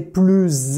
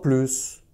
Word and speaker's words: plus: Tu prononces le S quand le mot « plus » a le sens de « more » en anglais ou de « mère » en allemand.